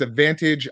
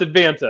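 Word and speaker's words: Advanta: Scott from it's it's ADV Vantage Ira did I say it correctly uh well it's advant yeah no no G yeah ADV advant Ira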